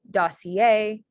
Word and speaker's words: dossier: So dossier, costumier, atelier. So that IER at the end of a word is pronounced yay in French.